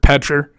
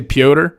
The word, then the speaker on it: Petr: I've heard his name pronounced so many fucking different ways. Petr, Piotr. I heard John Anik say Piotr, so I'm trusting John Anik because that motherfucker has said shit in order, I feel like. So I'm going with his pronunciation.